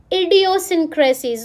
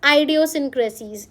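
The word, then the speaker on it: idiosyncrasies: सो बस प्रोनाउंसिएशन आप इसका याद रखना, इट्स इडियोसिंक्रेसीज, नॉट आइडियोसिंक्रेसीज, इट्स इडियोसिंक्रेसीज, ठीक है।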